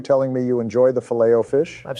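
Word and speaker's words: Filet-O-Fish: Say it like Obama did. It's fileto fish, not filto fish.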